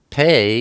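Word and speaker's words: פא: Next we have the ot, pei. Pei is the number 80, and it's pronounced P, like Peter, or sometimes it's pronounced like an F, like Philip.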